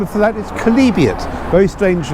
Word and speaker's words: chalybeate: world was iron rich name of that is kalibian very strange name as you'll see it's spelled there at the bottom of your screen kalibian that's how you pronounce it um it's good this was calibrated